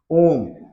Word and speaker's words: ओम: इस तरीके से हम ओम लिखते हैं और इसके उच्चारण में बहुत लंबा समय लगता है। जैसे आप ओम का उच्चारण करते हैं तो कैसे करते हैं, ओम, इस तरह से लंबा उच्चारण करते हैं।